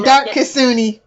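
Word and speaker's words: Dark Kitsune: Just say Dark Kasuni. Dark Kasuni, thank you.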